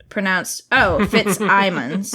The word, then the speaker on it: Fitzsimmons: called The Passing Playbook by Isaac Fitzsimmons, pronounced Fitzsimons. Oh, thank you.